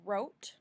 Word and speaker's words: wrote: find is globe globe that e at the end helps that o say its name it makes it a long o the next word i want you to find is wrote wrote wrote that e